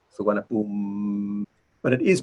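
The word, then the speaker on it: สุวรรณภูมิ: And then I mentioned to you these short I and U are sometimes not, or usually not pronounced at the end of the word, like suwana boom. You don't say suwana boom mi, suwana boom.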